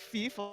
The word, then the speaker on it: Fievel: I love that is the correct, like if you're pronouncing that name in German, yeah, it's like Fiefel or something. But I call him Fievel and then little Feefel.